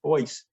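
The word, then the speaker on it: Boies: boyce and and the the last name is spelled b-o-i-e-s but judging from old uh deeds how it's written in some old deeds that probably was pronounced voice at the at the time um and uh he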